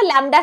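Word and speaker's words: lambda: ये लैम्ब्डा जो है ना लैम्ब्डा से हम इसको दिखाते हैं। लैम्ब्डा प्रोनाउंस करते हैं।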